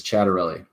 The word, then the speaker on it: Ciattarelli: Oh man, Ciattarelli, not Ciattarelli. I should know better. Okay, Ciattarelli is not right. It's Ciattarelli. Okay, so yes, it's looking very bad for him.